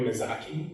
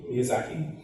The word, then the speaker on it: Miyazaki: Uh in 2004, Housewoman Castle was adapted into an acclaimed animated film by Hayo Mizaki Miyazaki, further expanding her global audience.